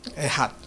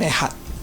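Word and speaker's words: אחד: The word is I don't know how to pronounce it. Ehad 에하드라고 발음하는데요. mean one. 에하드 원 하나 이 Your 뜻이에요. God is Ehad. 너의 하나님은 한 분이시다라는 거예요. Ehad.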